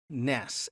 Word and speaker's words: nes: for banner and the Hebrew word nes, N-E-S, we would pronounce it.